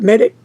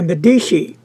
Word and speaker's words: Medici: this is the Visconti I say it wrong Medici Medici not met it ok Medici Italian beautiful really gorgeous down